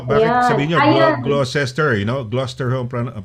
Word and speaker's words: Gloucester: Gloucester, Gloucester ho ang pronunciation nila, no?